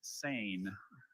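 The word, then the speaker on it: seine: This word has a homonym. The word is sane. This sane is to fish with or catch fish with a large net that hangs vertically in the water. Sane.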